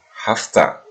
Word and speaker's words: have to: Baik, sobat sekalian, pada pengucapannya terkadang have to itu disingkat menjadi hafta.